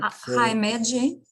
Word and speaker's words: Himeji: arizona has i found on the google uh himeji is it right hi meiji yep h i m e j i o himeji you don't know how to pronunciate what island is it what japanese island